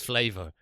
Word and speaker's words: flavor: This is flavor, but it has a U in it.